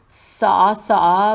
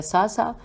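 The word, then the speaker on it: صعصعة: کی ہجے کرتے ہیں۔ سے نہیں، یہ تو سواد ہے، سواد عین سواد عین ہے، یہ ہو گیا ساسا۔ بن سوہان، سوہان بھی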